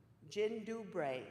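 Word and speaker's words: dzień dobry: 90 minutes to spare this is the Polish hello jyn dubray is how you say that that means hello the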